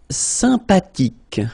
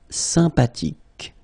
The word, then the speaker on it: sympathique: Sympathique. Remember the H is not pronounced. Sympathique.